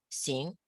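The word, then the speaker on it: xing: i n is sin x i and G is sing okay now remember just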